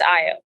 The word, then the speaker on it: Ayo: Did I say it right, Ayo? Yes, it's Ayo. Ayo. I think I said it wrong the first time.